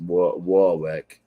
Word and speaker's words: Warwick: where I'm from where Warwick Rhode Island nobody can pronounce their ours in uh the Northeast so it's a wall wreck Ed yeah ours are W's here so uh yeah the